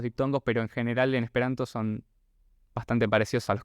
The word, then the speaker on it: esperanto: Eso significa que el acento viene antes de la última sílaba. Por ejemplo, en el caso de esperanto, va como en esperanto. Y las sílabas las podemos dividir según la cantidad de vocales que tiene la palabra. Entonces, por ejemplo, esperanto tiene tiene 4 vocales, entonces tiene 4 sílabas. La anterior a la última es la que lleva el acento.